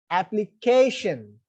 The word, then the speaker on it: application: And look at the next example, application. Here also the word end in ION. That's why second syllable from the back is k. That's why that should be stressed.